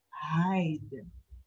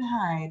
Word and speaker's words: hide: does the talking so the e is silent so when you pronounce the word you don't hear the e song h h-i-d-e hide